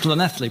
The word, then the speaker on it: Llanelli: For example, Llanelli in Wales is spelt with a double L, but clearly a double L isn't actually pronounced. If you were going to pronounce Llanelli properly, it should be Llanelli.